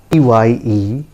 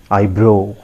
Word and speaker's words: eyebrow: The correct pronunciation is eyebrow. Repeat after me. Eyebrow, not bro, right?